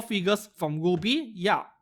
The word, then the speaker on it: RWBY: For the 15th of November, we have 4 figures from Ruby. Yeah, RWBY is pronounced as Ruby apparently.